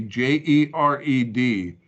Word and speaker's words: Jared: By the way, can anybody tell me why Jared, that would be Jered, is spelled typically in our English volume Jared?